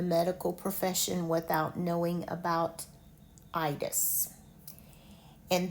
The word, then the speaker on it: itis: I think you cannot be in the medical profession without knowing about itis. And this one is pronounced with a long I.